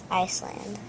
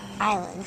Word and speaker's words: island: hurled them at the Iceland at the what I Island good silent s so was our prediction